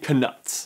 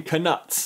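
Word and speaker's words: Knut: coins: galleons, sickles, and canuts. Problem number one, right out of the gate, they pronounce what is clearly supposed to be a silent K in canuts.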